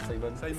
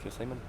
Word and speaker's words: Simon: je te laisse avec Simon. Du coup, moi, c'est Simon, parce qu'on est 2 Simons à la ferme. Donc, j'ai dû embrasser une vocation anglaise. Et ça s'écrit SAI-MONE.